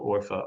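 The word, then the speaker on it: Urfa: A slight change in the uh pronunciation and in Turkish as I said still orpha or sonly orpha. Um my friend and colleague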